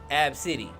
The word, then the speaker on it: ABCDE: because her name is spelled ABCDE now it's pronounced AB City AB City AB City that's an odd name